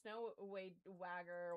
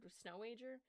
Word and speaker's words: Snowager: Oh, I can't do the snow wagger. What? Snowager. How the do you would anybody else pronounce that? Like snowagger.